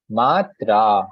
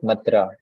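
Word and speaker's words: mātrā: Similarly here, matra, not matra. It can be, if this would not be here, it would become as matra.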